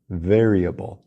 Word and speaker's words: variable: na primeira sílaba variable Vamos começar com o verbo ver em português eu quero lhe ver agora vamos usar o r caipira ver eu quero L ver variable Já a palavra un